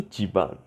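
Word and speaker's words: ち: quer falar e tebano apesar de ser escrito com c h não é pronunciado em Shimano é e Tiba e é outras palavras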